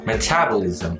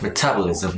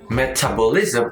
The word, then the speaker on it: metabolism: is actually pronounced like metabolism the second syllable should be stressed like metabolism not metabolism or metabolism but it should be